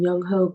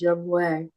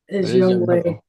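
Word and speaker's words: Younghoe: as June calls him young ho C even though his name is pronounced young way I thought ho it's young ho young way young way I mean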